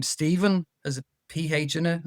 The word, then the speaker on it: Stephen: And the thing with the mh is so you know the word the name Stephen has a ph in it that that's a